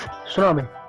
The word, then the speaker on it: tsunami: Think about a word which starts with T, where T is silent. Okay, don't take stress. I give you the answer. It's tsunami.